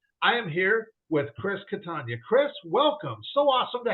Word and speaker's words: Catania: you know how to how to pronounce my last name is Katan like lasagna and I'm just like